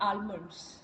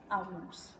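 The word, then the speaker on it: almond: जैसे हम इंडियंस है हम क्या कहते हैं आलमंड व सम से आ मंड्स बट दे से आ मंड्स तो वो एल को साइलेंट कर देते हैं राइट सो एवरी कंट्री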